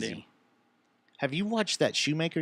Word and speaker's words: Schumacher: have you watched that shoemaker yet yeah that our schumacher i guess yeah is the correct way to say it i did you isn't